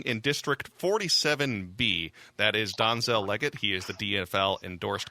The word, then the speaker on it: Donzel: And actually, the pronunciation is Donzel, but I'll take it any way I can get it.